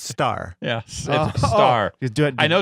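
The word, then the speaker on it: Starr: say chart I follow him on Twitter it's pronounced star yeah star do I know it's two do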